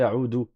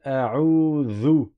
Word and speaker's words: أعوذ: mélangé entre l'ignorance aussi, parce que c'est pas un del, c'est un zel. Certains en Algérie, par exemple, ils vont dire Qul a'udhu, Qul a'udhu. Non, Qul a'udhu, Qul a'udhu. Avec un zel, tu sors la langue, ni tu dis